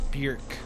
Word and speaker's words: Björk: being on the episode her name is actually pronounced Bjork likely the word jerk but with the word